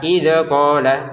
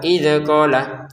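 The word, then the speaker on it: إذ قال: Nah, langsung saja ke id. Jangan dipantulin, jangan dibaca idola. Idqola ya. Ya. Idqola seperti itu ya.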